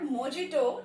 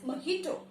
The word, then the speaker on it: mojito: This is not mojito, it is mojito.